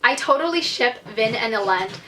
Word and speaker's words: Elend: I totally ship Vin and Elend. I'm pretty sure it's pronounced Elend, but I pronounced his name as Elend in my head.